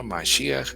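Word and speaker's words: מָשִׁיחַ: La palabra Mashiach es la pronunciación en hebreo, y la palabra Mesías es la transliteración, es como se pronuncia traducido al español o fonéticamente al español, que sería Mesías.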